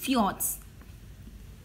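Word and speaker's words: fjord: the next heading is ஃபியார்ட்ஸ் ஃபியார்ட்ஸ் R glacial வேலிஸ் that R partly submerged in த சி இது வந்து எஃப்ஜேஓஆர்டின்னு கொடுத்துருப்பாங்க ஆனால் இதை ஃபியார்ட் அப்படின்னு ப்ரொனவுன்ஸ் பண்ணணும் அதாவது இதில் என்னென்னா பனியாற்று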